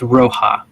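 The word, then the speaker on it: Roha: the city of ra it's roja my bad everyone pronounces it so it's r-o-h-a it just back to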